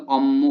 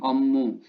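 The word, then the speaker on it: 업무: Kemudian ommu neong itu ommu bacanya ya, B ketemu M, ommu.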